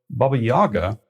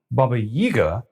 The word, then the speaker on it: Baba Yaga: of the Baba Yaga pronunciation of her name may vary depending on Regional accents and personal preferences though Baba Yaga is most common Baba yiga is also accepted the